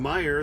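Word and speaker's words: Meijer: uh pet food from meyer that's where it's going m-e-i-j-e-r that always drives me crazy because there's a j in there you don't pronounce so yeah if you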